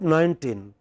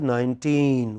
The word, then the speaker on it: nineteen: In the first word 19, which part of the word is stressed? Teen. But by mistake we pronounce it as 19. It is not 19, it is 19. What is it? 19.